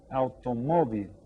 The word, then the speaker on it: automóvil: And again, we stress the accented syllable, automóvil.